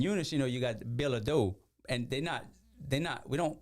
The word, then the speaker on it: Ledoux: Because in Eunice, you know, you got Ledoux, and we don't pronounce them Ledoux.